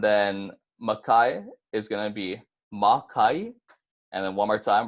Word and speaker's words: makai: get mauka and then micaiah is gonna be ma ke and then one more time we're gonna say